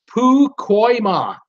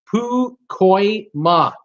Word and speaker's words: Pacoima: Jordan, my city is pronounced Pukoima. It is a suburb of the northeastern part of San Fernando Valley, Los Angeles County. It's okay. I forgive you this time. So it's Pukoima.